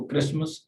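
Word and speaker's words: Christmas: और इसी तरह से इसको क्रिसमस, H एंड T जो है दोनों साकिन है।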